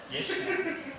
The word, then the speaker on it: пешня: Пешня? Да. Пешня. Вообще, это, конечно, правильное ударение «пешня».